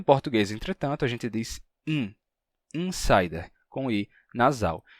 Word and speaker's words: insider: Só que quando a gente fala português e pronuncia a palavra insider, então o N termina nasalizando o I que vem antes dele. E a gente pronuncia insider com I nasal. Em inglês não seria assim, ficaria insider.